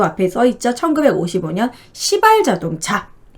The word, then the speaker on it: 시발: 1955년 시발 자동차. 네, 발음을 잘해야 됩니다.